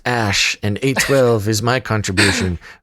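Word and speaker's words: Æ: letter X and then AE is pronounced ash and 8:12 is my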